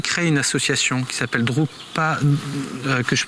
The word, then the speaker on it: Drukpa: Alors, vous avez créé une association qui s'appelle Drukpa, que je prononce bien, non ?